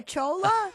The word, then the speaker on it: Chola: so you're calling me a Chola? It rhymes with hola.